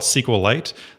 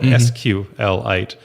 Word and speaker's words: SQLite: if you call it SQL light then you would say a SQL light database whereas if you call it sqlite you'd call it nsql dat anyway so I always have